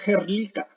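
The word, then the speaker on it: Hrdlička: Esa se pronuncia como Herlica. Alex Herlica establece que la teoría del hombre asiático, hace unos 50.000 años atrás, el hombre pasa desde Asia a América.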